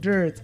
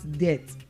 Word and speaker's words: dirt: Dirt, and not debt. It is not debt, but what? Dirt.